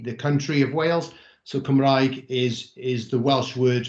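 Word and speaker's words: Cymraeg: cumbria being the the country of wales so kamraig is is the welsh word for the welsh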